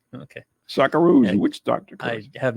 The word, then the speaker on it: Socceroos: doctor curse s-o-c-c-e-r-o-o-s how do you say that socceroos okay sockaroos and which doctor i have no tolerance for